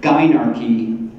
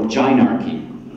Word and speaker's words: gynarchy: There are two, this word has a variant pronunciation. I try to warn people so that you're ready to hear two different pronunciations of the word gynarchy or gynarchy.